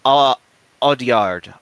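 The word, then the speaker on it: Audiard: I'm not foering that name it's it's jock odard o odard and then the substance director corai far I'm bad with pronouncing names I'm sorry that's no problem um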